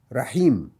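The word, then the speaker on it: رحيم: La dernière lettre, si elle était ma ou mou ou mi, dans les 3 cas, on ne l'entendra pas. On va dire rahim, comme s'il y avait le rond.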